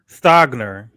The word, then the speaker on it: Stogner: his name is s-t-o-g-n-e don't ask me how to pronounce that stagner okay you got it stop stay what is it stogner stogner okay uh megan they got